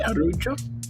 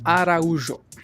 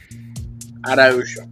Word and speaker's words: Araujo: Is that pronounced right? Arujo? Araujo. Araujo.